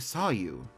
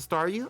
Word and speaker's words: Staryu: Starmie was just a Staryu, I could never pronounce its name right. I always end up calling it, Saw You.